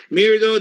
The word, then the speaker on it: Mirdo: Mirdo that rhymes with weirdo.